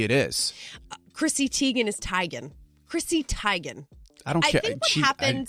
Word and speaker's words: Teigen: with musicians maybe it is Chrissy Teigen is tygan Chrissy Teigen I don't care what happens with